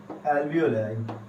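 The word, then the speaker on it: alveoli: Me right it here, एल्वियोलाई, एल्वियोलाई और एल्वियोली, तो ये सेम है, आप चाहे किसी भी तरीके से उसे प्रोनाउंस कर सकते हैं।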